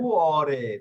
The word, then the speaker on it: cuore: e che parlano direttamente al cuore e con না, আলকুয়ারি il না, cuore. কুঅরে।